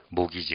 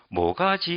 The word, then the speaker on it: mortgage: 그것 은 " 모기지 " 가 됩니다 . 자 , 잘 읽어 보시면 ... 모기지 (Mortgage) 입니다 . 그리고 가운데 있는 't' 는 묵음 이죠 , 그렇죠 ? 발음 되지 않습니다 .